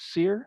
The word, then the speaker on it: Suehr: i'm pastor sear my last name's pronounced seer like what you do to a steak but i usually just